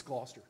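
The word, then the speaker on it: Gloucester: just pronounced it I it's it's gler oh yeah but we we forgive everybody who's not for Virginia they have no idea how to say it that's all right like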